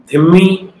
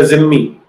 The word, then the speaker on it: dhimmi: से चर्चा करेंगे कि जो शब्द धिम्मी या जिम्मी, दो ढंग से इसे प्रोनाउंस किया जाता है। जो मूल अरबी है वो वहां पर तो धिम्मी कहते हैं, लेकिन यहाँ हमारे क्योंकि उर्दू का ज्यादा प्रभाव है इसलिए इसे जिम्मी कह दिया जाता है।